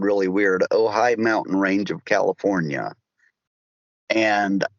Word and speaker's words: Ojai: I was in the Ojai, OJHI is spelled really weird, Ojai Mountain Range of California.